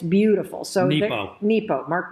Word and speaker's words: Nepo: Mark Nero was fighting cancer when he wrote this. And it's beautiful. So Nepo. Mark Nepo.